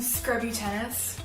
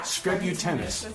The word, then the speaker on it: Skrebutenas: Skrebutenas. Skrebu like tennis? Yeah. Skrebutenas.